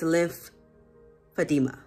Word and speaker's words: lymphedema: like to say that i do mispronounce the word lymphedema several times in this video particularly in the beginning but i do correct myself towards the end so please do not charge my heart but my mind but the word is lymphedema lymphedema all right hi guys